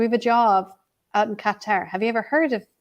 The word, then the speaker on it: Qatar: to the fact that when they pronounced Qatar Qatar I sound like guitar I was like I'm